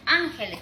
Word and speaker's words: ángeles: Y la tercera sílaba me dice la siguiente, entonces yo puedo poner un ejemplo, ángeles, por ejemplo, ¿no?